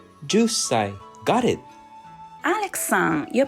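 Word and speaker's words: 十歳: years old equals just say is the correct pronunciation ju say got it Alexan your pronunciation of two has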